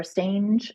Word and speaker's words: Stange: Last name's pronounced Stengy, but yeah, that's commonly Apologies.